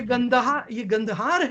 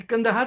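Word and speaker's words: गांधार: ये गंदहार है, ये कंदहार तो मिस प्रोनाउंसिएशन है।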